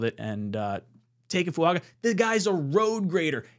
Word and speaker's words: Fuaga: on uh tiis say funga that's how you pronounce it funga then with the second round pick the New